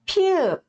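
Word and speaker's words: 피읖: As palavras que começam com piup, piup, também é uma consoante aspirada, tá?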